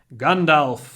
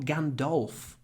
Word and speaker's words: Gandalf: Lord of the Rings Gandalf smoked a long pipe it's not Gandalf it's gandal what's that about anyway